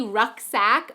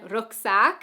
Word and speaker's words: rucksack: And we also use rucksack, but it's pronounced, as I said, you know, a little differently, rucksack versus in German rucksack.